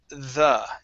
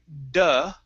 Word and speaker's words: the: on okay for example the word the instead of saying duh it's on the internet on the internet okay